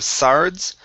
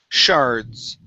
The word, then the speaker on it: shards: is the word shards Give me a good sh sound here instead of sards Shards Uh uh Shards Okay